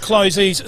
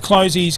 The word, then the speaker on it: Closey's: Brucey, is it Closey's or Closest, do you reckon? Well, I think it's pronounced Closey's Supermarket, and look, many thanks to the guys down there at Closey's bringing us today's coverage.